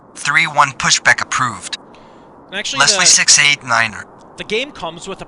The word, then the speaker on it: niner: that's what I learned you have to say Niner not nine because I know that's